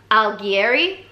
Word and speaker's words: Alighieri: say that Ali Getty I'll get it Dante Alighieri yeah that's definitely how you pronounce that name but basically look this is